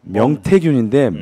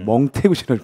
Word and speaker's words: 명태균: 아, 발음이 자꾸 명태균인데 멍태균을 발음이 돼. 예.